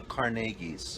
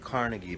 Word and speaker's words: Carnegie: She was like a descendant of She was Scottish and she was a descendant of the uh Carnegies. That's right. We at the time called it Carnegie, but she was very insistent.